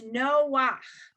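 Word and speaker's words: נֹחַ: end of the word, you actually pronounce it backwards. You pronounce it ach, not cha. So for example, page 60, line 2, the last word is Noach, right?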